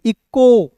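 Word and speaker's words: echo: बहुत खास है दोस्तों आज के क्लास ई सी एच ओ तो इचो नहीं पढ़ लीजिएगा। इसे पढ़ेंगे ई का इच का दोस्तों यहां पे क के रूप में ओ का उच्चारण ओ के रूप में इको फिर देखिए वी आई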